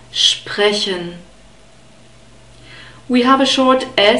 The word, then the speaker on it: sprechen: Okay, so you have to bring the sh sound and the P, which is produced in the front, and the guttural R together somehow, sprechen.